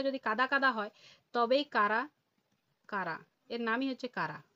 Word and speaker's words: Chara: তাহলে সেই মিষ্টি জলটা যদি কাদা কাদা হয় তবেই কারা? কারা? এর নামই হচ্ছে কারা। এইচ আর ঠিক আছে? অনেকে চারা বলে।